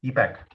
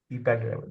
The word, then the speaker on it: EPAC: हाउ you pronounce this, ईपैक, EPAC, yeah. ईपैक, अच्छा।